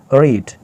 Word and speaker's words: read: रेड, इसकी pronunciation है, लेकिन आप देख सकते हो यहाँ पे इसके प्रोनाउंसिएशन अलग है, लेकिन इसके जो बनावट है, यहाँ पे जो अल्फाज इस्तेमाल हुए हैं वो तीनों में एक ही तरह है।